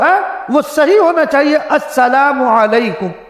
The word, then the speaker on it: السلام علیکم: وہ صحیح ہونا چاہیے، السلام علیکم، پورا لفظ نکالے، الف لام کو کھائے نہیں، الف لام کو جو لوگ کھا جاتے وہ کھائے نہیں، بالکل صحیح تلفظ۔ اگر